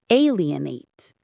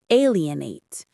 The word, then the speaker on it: alienate: Alienate. The stress is on the first syllable. Alienate.